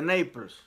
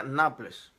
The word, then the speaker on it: Naples: Tony Arias, saludos desde Naples. A ver si lo pronuncié bien esta vez. Yo antes decía Naples, pero me dicen que es Naples.